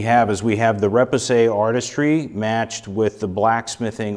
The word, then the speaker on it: repoussé: Okay, so you used another word, repoussé.